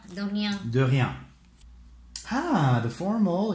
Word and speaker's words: de rien: You don't pronounce the N, so de rien.